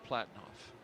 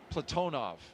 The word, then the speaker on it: Platonov: Ross Cosmos cosminaut Alleg Platinoff. Platonov. I corrected my pronunciation yesterday and I slipped back into Americanizing.